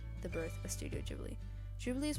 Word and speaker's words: Ghibli: and so came the birth of studio ghibli jubilee is pronounced like jubilee and it means dry saharan